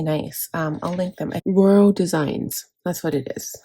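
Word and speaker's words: Rhoro: they they're really nice um I'll link them roro designs that's what it is I knew it was going to bug me roro it's spelled r h o r o and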